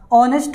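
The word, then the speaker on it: honest: ऑनेस्ट मैन में भाई, ऑनेस्ट में ओ स्वर का उच्चारण करता है पहले इसलिए हम एन ऑनेस्ट मैन कहेंगे।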